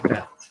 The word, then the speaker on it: verte: So if I gave you this word, green, there's no vowel after that T, so I'm not going to pronounce it. Feminine, verte.